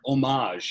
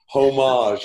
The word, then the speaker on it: homage: pick the exact word their homage and you without the H pronounced yeah homage yeah homage it's it's so crazy